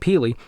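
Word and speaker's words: P33LY: And Peely, actually, I keep saying Peely. It's spelled with the capital P 33LY. I'll put it up on the screen. And that's, it's like kind of a techie future spelling of his name.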